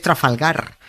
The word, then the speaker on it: Trafalgar: Que una cosa es que los guiris no sepan decirlo, que en su derecho están y no pasa nada, pero otra muy distinta, que un español snob lo pronuncie con acento inglés comiéndose todas las R's.